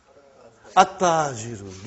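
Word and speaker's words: التَّاجِرُ: How will you pronounce this now? At-tajiru. You did not pronounce al. You did not pronounce lam. Okay, you did not pronounce, you skipped it.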